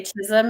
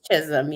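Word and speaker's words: Chisholm: it's just it's funny trying to say Chism and they're like uh chol or I mean just things that you hear all the time and sometimes it's irritating it's Chism yeah and I live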